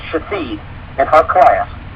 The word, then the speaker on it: Shithead: S-H-I-T-H-E-A-D. Shithead. But it's pronounced Shafid.